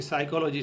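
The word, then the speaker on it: psychology: जैसे कि साइकोलॉजी शब्द है। तो साइकोलॉजी में पी साइलेंट है ऐसा बताया जाता है।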